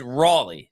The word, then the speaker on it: Raleigh: family at times uh but but so it's Raley Ry I don't know why I always said